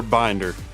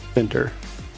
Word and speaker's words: Bender: Is it Bender or Binder? Bender. Bender, okay, we were saying it right.